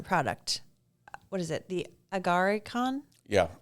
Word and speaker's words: Agarikon: The Agarikon? Yeah. Is that how you say it? You can pronounce like that. Agarikon is another way.